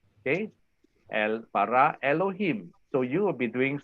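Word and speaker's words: אלהים: So you have the open syllable. Then okay, this is open syllable. Okay, and then this is a closed syllable. Okay, so it's bara, lo, him. See, easy. Bara Elohim, bara Elohim.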